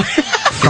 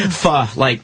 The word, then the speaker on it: pho: Pho? I love your face. What's it called? Pho. I think PHO is. PHO. Pho. Yeah. Oh, they don't pronounce it pho? No, it's like Vietnamese. They say pho.